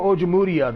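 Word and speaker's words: Ojemudia: this season michael ojomoria michael ojamutia that's how they that's how you pronounce his name um joe hayden two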